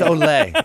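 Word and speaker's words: olé: olay it's Olay it's pronounced Olay you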